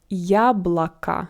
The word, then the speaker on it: яблоко: Яблоко. So here we have 2 O, but all of them without an accent.